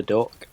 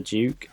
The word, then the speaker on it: Duc: weapon that we all fought was called the doc he's actually pronounced as the Duke we were all saying it wrong this whole